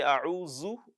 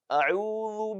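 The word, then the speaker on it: أعوذ: Do not forget that we mentioned that one of the common mistakes people make when reciting the Quran is replacing dhal with za. So do not say a'udhu billah. That is wrong. So because the letter there is not za, it is dhal.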